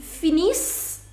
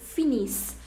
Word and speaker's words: finissent: Nous finissons, vous finissez, ils finissent et elles finissent. In the conjugations in il and en plural, you never pronounce ENT. ENT is never pronounced. So that means you are going to pronounce only till S.